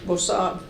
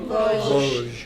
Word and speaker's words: Vosges: He went to Bossard. How do you pronounce that, Toni? Vosges. Vosges, thank you.